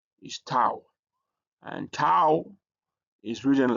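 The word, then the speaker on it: tau: Uh another letter that we have is um tao is toao and toao is written like t and it has a t sound even it is translated as t.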